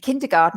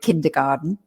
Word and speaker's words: kindergarten: and we call it kindergarten we don't actually pronounce it garten we say garden so we make it sound english as well kindergarten um